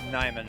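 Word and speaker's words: Niman: How do you pronounce it? Nimon or Neiman? Nimon.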